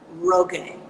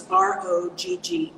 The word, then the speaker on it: Rogge: name is Celia, Celia Roge. That's the American pronunciation. She's German. It's Rogge.